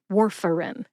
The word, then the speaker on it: Warfarin: It's more like war like World War II, fur like the fur on a dog, and in as in the pills go in the bottle, not war like